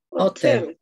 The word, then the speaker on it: hotel: Hotel. Hotel. Hotel. Hotel. ¿Escuchan el sonido de la J? Hotel. Sí. Hotel. Right? So, suena como que es una J.